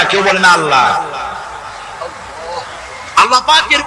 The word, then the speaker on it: আল্লাহ: নিশ্চয়ই মনে আছে আল্লাহ এই উচ্চারণটা আমাদের অনেকের হয় না কেউ বলে না আল্লাহ আল্লাহ পাকের উচ্চারণটা হচ্ছে আল্লাহ পাকের নাম হচ্ছে আল্লাহ মুখটা